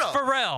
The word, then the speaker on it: Pharrell: oh so you so me putting the emphasis on a different syllable makes you not know